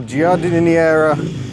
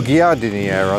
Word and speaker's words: Giardiniera: And over here, Fiat 500s, including this delightful little Giardiniera, or Giardiniera, I suppose it is. They don't have a soft G in Italy, do they?